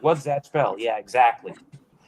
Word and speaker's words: Gash Bell: about it's like what's Zach Bell yeah exactly actually the Japanese they pronounce the zaku Zak they don't say Zach it's called gash Bell really yep so do